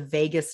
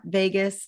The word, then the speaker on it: vagus: via a system called the vagus nerve and not vegas like las vegas but vegas is spelled v-a-g-u-s and it's it stands